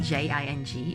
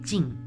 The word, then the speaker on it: Jing: In Chinese, you pronounce Jing. So so you don't have that J sound. It's kind of like a combination of J and Z, right? So it's pronounced Jing in Chinese.